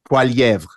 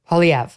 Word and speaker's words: Poilievre: What's his how do you pronounce the last name? Poilievre. Poilievre.